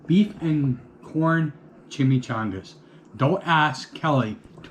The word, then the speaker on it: chimichanga: Beef and corn chimichangas. Don't ask Kelly to pronounce chimichanga. Nope, chimney stuff.